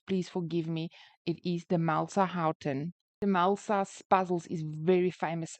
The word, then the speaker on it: Demelsa Haughton: the surname to Demelsa Houghton, but if I mispronounce it at any stage, please forgive me. It is Demelsa Houghton.